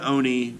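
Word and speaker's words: 鬼: retelling are listed below they should be pronounced with equal stress on every syllable singular and plural forms of nouns are indicated by context eg one Oni rules 10 oniy in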